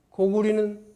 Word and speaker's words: 고구려: 이등무의 청장관 전서에도 보면 고구리는 고구리, 고려는 고리라고 읽으라고 나와 있어요.